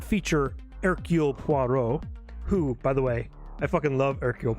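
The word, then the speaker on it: Hercule Poirot: he's so cool uh his name starts with an h by the way but that's not how you pronounce it uh because he's from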